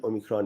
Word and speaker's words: omicron: an accent too but it is actually O micron. So it is small O. So O micron or O micron. So some people are calling it O omicron and some are calling it omicron.